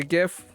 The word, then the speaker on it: GIF: Can I say GIF or GIF? GIF. Oh, my buddy Dean insists on pronouncing it GIF. Well, that's how the inventor originator pronounced Yes, it, yeah. I know, but that doesn't mean doesn't matter. Doesn't matter. It's how I language used to say takes on GIF. its own life.